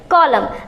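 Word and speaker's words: column: नहीं पा रहे हैं, तो यहाँ पर N क्या है? साइलेंट है, और इसे हम पढ़ेंगे कॉलम।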